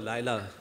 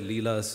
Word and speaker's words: Laila: I call her Laila, though my publisher at my book launch said Leela, but it's definitely Laila, that's the way I say it.